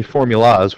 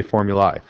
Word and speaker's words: formulae: We don't say formulas, we say formulae.